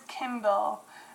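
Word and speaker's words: Kyndal: people who like it uh but it is Kindle and it's spelled k-y-n-d-a-l that is number 982.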